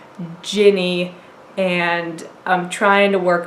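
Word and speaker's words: Jinni: I'd been saying Genie, then my husband, who knows something about Arabic, informed me that it is Ginny, and I'm trying to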